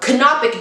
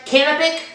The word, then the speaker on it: canopic: These are Kopic jars. Does that seem am I saying it right? Canopic. Canopic. Canopic. Canopic jars from ancient Egypt.